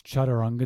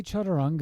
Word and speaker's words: chaturanga: like 50 years worth why can we not pronounce chataranga DNA why why why why is it chaturanga chaturanga there's no there's no ah ah in Sanskrit there's no ah chaturanga just say chaturanga it's so simple it's so simple the